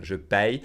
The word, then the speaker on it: paye: Je paye. And we pronounce it 2 ways. That's what's interesting about it. You can say je paie or je paye.